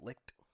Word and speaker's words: Licht: I think it's spelled weird. Licht. Liched. Pronounced Licht.